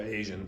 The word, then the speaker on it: Asian: Asian. Okay, so that's j, it's not sh, and that's a in English, not a. Okay, so Asian food.